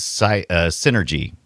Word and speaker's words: Psynergy: Think of like, this has Psynergy is spelled with a P. The P is silent. Yeah, the Psynergy.